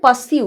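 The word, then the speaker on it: pursue: আমরা ব্যবহার করব তারপরে পাসিউ একটা কথা বলছি যখন এখানে আর কিন্তু উচ্চারণ হবে না পাসিউ পা র কিন্তু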